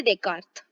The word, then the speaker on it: Descartes: The first is Renee देकार्टे, Renee देकार्त, okay, इसका pronunciation Renee देकार्त है।